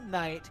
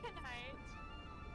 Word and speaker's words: knight: you do notice that you are saying the silent letters of words. So, okay, here. Say this sentence. Say the sentence. A gnome knight crosses the bridge. You're just daily yourself. Tonight crosses the bridge.